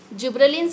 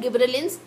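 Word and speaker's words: gibberellins: Number 1 is oxygen, जिब्रेलिन्स है, गिब्रेलिन्स, आप जैसे से प्रोनाउंस करना चाहते हैं ये दोनों तरीके से ठीक है।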